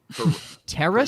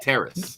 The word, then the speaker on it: Terrace: Terrace. No N. There Terrace? is no N in his name. It is Like- Terrace Marshall. Like the thing that Juliet walked onto in Romeo and Juliet?